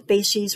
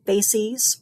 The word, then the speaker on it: facies: And that's what a facies represents, or facies. You can pronounce it either way, facies or facies.